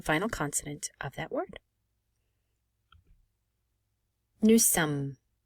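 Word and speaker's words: nous sommes: consonant of that word new sum again we do not pronounce the final s and because there are two m's here we will pronounce them and we will not make the o nasalized so again it's new sum when we're learning later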